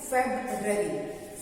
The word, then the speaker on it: February: इसको पढ़ते हैं फेब्ररी। फेब्ररी, फरवरी नहीं, फेब्ररी नहीं, फेब्ररी। फरवरी नहीं बोलना है, ठीक है।